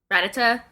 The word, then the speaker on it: Rattata: I don't know how to pronounce it. It's Rattata.